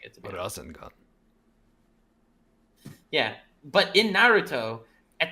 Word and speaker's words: Rasengan: You do a good job pronouncing it. Rasengan.